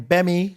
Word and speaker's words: Gbemi: My Instagram, my first name, Gbemi, Gbemi, silent G in Nigerian, I apologize. Gbemi comedy. Surely That's it. silent G sounds cool though. Like you can be a silent G. Yeah, I'm a silent G. Do you know what? It's kind of not silent. How would you say it properly? It's like Gbemi.